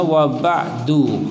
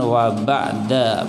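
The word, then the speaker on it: وبعد: sisipkan sedikit Oh ya Kenapa dibacanya waba'du pakai gems mah bukan wa bada pakai 4h apalagi wabak dipakai kasrah tapi pakai apa belum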